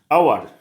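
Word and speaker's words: hour: आवर, आवर का pronunciation कैसे होता है? आवर का प्रोनाउंसिएशन होता है, ठीक है, ए ओ आर।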